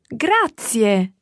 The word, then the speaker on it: grazie: thank you in Italian grazie Grazia and remember those three syllables there they're all run together quickly but there are three syllables gratia gratia gratia that fit so that's